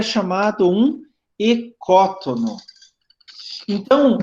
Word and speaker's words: ecótono: usa muito na ecologia é ecótono tá a pronúncia certa ecótono ele vem do grego Olha que você tem